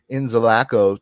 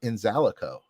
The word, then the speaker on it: Inzalaco: time I've never actually asked you how to pronounce it so I've been saying inzalaco to my myself uh but then I read it and I was like no it's probably in zico so you actually had it right the first